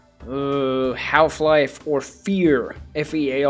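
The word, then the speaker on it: F.E.A.R.: uh half life or fear Fe a r it's usually just pronounced fear but the characters are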